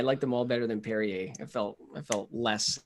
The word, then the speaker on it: Perrier: do you bounce it I think it's Perrier Perrier reppin my Southern roots I liked them all honestly I liked them all better than Perrier I felt I felt